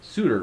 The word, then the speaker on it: Soutter: Kent Hovind versus Nick Lamar, and I'm pronouncing it Soutter, right? Soutter, that is correct.